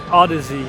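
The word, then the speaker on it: Audeze: it works of course apparently it's pronounced Odyssey instead of a but I'm saying A's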